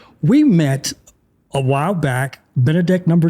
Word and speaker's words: Benedek: Benedek, my friend Benedek, again, or I shouldn't say again because you guys didn't hear that part. We met a while back, Benedek number 2, who is the CFO of your company, Vuvo.